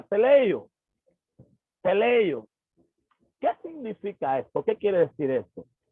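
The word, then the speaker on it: τελειόω: Cuando nosotros investigamos acerca del término perfeccionar, nos encontramos con un verbo griego que se pronuncia teleio.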